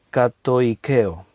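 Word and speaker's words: κατοικέω: La palabra habite, ahí en el griego, es una palabra griega que se pronuncia así, katoikeo.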